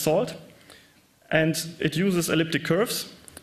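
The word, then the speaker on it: NaCl: It uses a networking and cryptography lib, pronounced SALT, and it uses elliptic curves for the Diffie-Hellman key exchange, 255-bit public keys.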